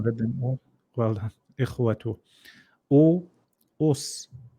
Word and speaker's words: إخوة: Ikhwa, إخوة إخوة أحسنت brother Dawood. أجا أجلا أجلا أحسنت. خا No, not خا. إخ. إق إقوة أحسنت. Even though إخوة you haven't read them all. Well done. إخوة.